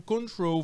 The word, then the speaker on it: control: Se eu pronuncio control, verbo controlar, você observa que a ênfase, a minha sílaba forte, é o troll, é control, não é control, é control.